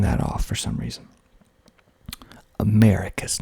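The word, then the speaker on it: Americus: vadaya next we got americas and i think my refrigerator just came on and i keep forgetting to turn that off for some reason america's not america americas hog mountain hog mountain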